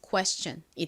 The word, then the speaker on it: question: 덩어리로 천이라고 소리가 나죠 그래서이 단어 읽어 보면요 Question이 됩니다 Question 따라해 보세요 Question 한 번 더